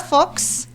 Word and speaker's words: Folx: So, Frontera Folx. Did I say that right? Folks. Okay, yep.